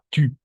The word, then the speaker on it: tu: Vamos a pronunciar tu. ¿D'accord? U, c'est le U. Es como una U, pero como I. Puede ser tu.